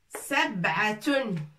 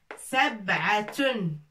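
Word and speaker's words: سبعة: Ta, tanwin, ta marbouta avec tanwin, ça se prononce tun. Sab'atun. Sab'atun, ça veut dire 7.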